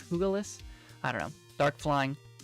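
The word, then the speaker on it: Iron Jugulis: High Dragon called iron Douglas in Spanish you pronounce that like an H the J like an H oogleless I don't know dark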